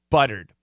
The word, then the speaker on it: buttered: b-u-t but uh uh it's a strong sound it's a downward sound and it's almost always short it's not stretched you could say but you can but typically we say but but nice and short and powerful so that's the case